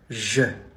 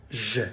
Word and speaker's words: je: You say je. Je. Not je. Not je. Not je. Je.